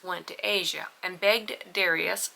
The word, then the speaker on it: Darius: to Asia and begged Darius sometimes pronounced daras the King of Persia